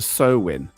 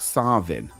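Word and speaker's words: Samhain: The Irish pronunciation is close to sewin, which English speakers aim to emulate. Scottish Gaelic pronounced more like sin.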